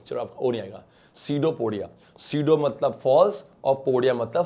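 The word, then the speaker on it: pseudopodia: पुरी अभी कहते हैं सी ऑफ पीस साइलेंट है बेटा सी दो पोडा कल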